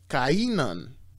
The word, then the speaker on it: Cainan: Okay, Enos begat Cainan. Okay, I don't like to say Canaan, because Canaan was the son of Ham from Noah, so I just like to pronounce it Cainan. Okay, Enos begat Cainan.